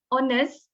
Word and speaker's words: honest: heard someone said wholeness when we said honest we need to have a silent h so the pronunciation is honest okay and then uh